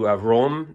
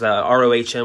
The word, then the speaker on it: Röhm: And finally, I was tipped off to Röhm, I believe is how it's pronounced, Rohm with a umlaut.